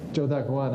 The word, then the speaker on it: Zhou Daguan: Zhou Daguan. I don't know what the pinyin is for it, but that's Zhou Daguan.